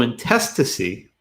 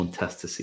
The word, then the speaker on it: intestacy: Intestacy. No. Intestacy. Just say it like I did because you're gonna screw it up if you don't.